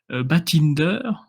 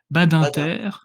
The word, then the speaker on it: Badinter: 15 ans élu, Batinder, je le prononce pas très bien. Il est né en 1928 d'ailleurs, hein, il est né la même année que notre ami Jean-Marie Le Pen. Badinter. Ah oui, je les prononce à l'allemande.